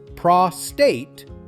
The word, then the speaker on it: prostate: Prostate. Let's break it down. This word is often said wrong. The correct way is prostate. Start with pra, short and clear, then finish with state.